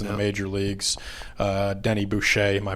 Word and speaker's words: Boucher: Denny Boucher, am I pronouncing that correctly?